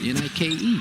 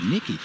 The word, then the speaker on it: Nike: And so finally at the end of dinner, they're like, why do you keep calling this guy Nicky? She said, well, that's what's on his sweatshirt, N-I-K-E, Nicky. Nike.